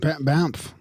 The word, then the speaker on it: Banff: Banff.